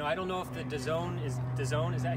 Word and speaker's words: DAZN: I don't know if the DAZN is that how you say it?